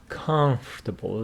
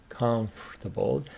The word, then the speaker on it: comfortable: we need it is comfortable this o here is silent we don't say Comfort comfortable comfortable and uncomfortable comfortable uncomfortable